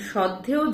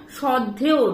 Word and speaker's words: শ্রদ্ধেয়: কথাটা শ্রদ্ধেয় নয়, কথাটা হচ্ছে শ্রদ্ধেয়।